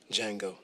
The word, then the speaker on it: Django: he what's your name Django the D is silent I am pleased to